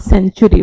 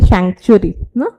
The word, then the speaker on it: sanctuary: Sanctuary. It should be not century. Move pronounce what is century. It should be sanctuary.